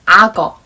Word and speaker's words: 악어: So when you write this word in Korean, you have to write in this way, 악어. But when you say this or read it, you have to pronounce like 악어.